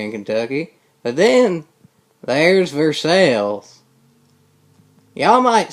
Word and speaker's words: Versailles: But then, there's Versailles. Y'all might say, I don't recognize Versailles. But just look up how it's spelled. V-E-R-S-L. So it's Versailles. The other people have it wrong. Us Kentuckians are right.